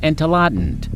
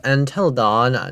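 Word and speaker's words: Entelodon: But giant wildlife species was a familiar typical anteladin. With a large bulky body, slender legs, and long snout, anteladin had complete etheran detention. Also, it's pronounced as antelodon, not what of a brain rod that this guy conceived.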